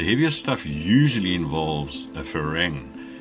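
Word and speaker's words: ฝรั่ง: The heaviest stuff usually involves a farang. Farang is the Thai word for foreigner, which they pronounce phalang.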